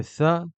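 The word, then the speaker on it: ث: se prononcer pareil ta le ça va correspondre ou ou ressembler plutôt au th en anglais quand on va prononcer le mot three three donc pour prononcer cette lettre il suffit de sortir un tout petit peu le bout de sa langue et de la pincer et de pincer le bout de sa langue entre les dents du haut et les dents du bas le Jim va se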